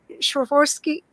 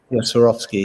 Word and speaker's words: Swarovski: tell us more about that you you take schwerforski i can never pronounce it swarovski crystals and you you've done these baths for